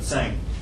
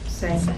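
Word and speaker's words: Tsang: Sang, and he talked about engaging parents. I'm sorry, did I pronounce your name wrong? It's fine. T and S is pronounced together. Sang. Sang.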